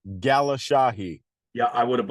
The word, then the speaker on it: Galeshahi: PR everyone calls me so it's pronounced Gala Shahi yeah I would have butchered it Gala Shahi it's funny because we've been on how many